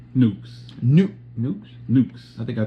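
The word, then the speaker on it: Newk's: So Nukes, how you spell it?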